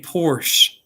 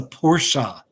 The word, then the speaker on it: Porsche: And I guess I used to say Porsche, but I guess you do pronounce the E. It's a Porsche Boxster.